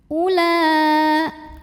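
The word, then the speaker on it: أولى: Ula, o-nya bukan pemanjang, bukan waw mad, walaupun hamzahnya dhammah, bukan mad badal, jadi jangan dipanjangkan. Ula, ada mad wajib muttasil,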